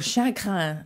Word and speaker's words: chagrin: is a great word Chagrin or Shaka as they say in French is a beautiful word